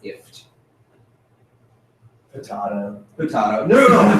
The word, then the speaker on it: IFTTT: I think it's pronounced ift. I think you're supposed to say that's what I have heard people say, is that it's ift.